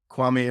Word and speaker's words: Kwame: in uh just say my name is Dr kwami and I am undone my name is kwami and brown and I am undone awesome and